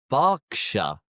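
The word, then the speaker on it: Berkshire: England end in shia but the shy is pronounced as sha. For example, Worersha, Worersha, Glostershure, Glostershure, Leersha, Leersha, Hertfordshire, Hertfordshire, Barkshire, Barkshire, Warikshire, Warikshire, Bookinghamshire, Bookinghamshire, Shropshire, Trop Upshshire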